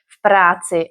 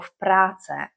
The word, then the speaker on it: v práci: But I'm sure you know that, but we don't really care whether you say v práci or v práce, because the ending, we are putting the accent on the beginning. So the ending, you can just say v práci. You know, just swallow the ending if you're not sure.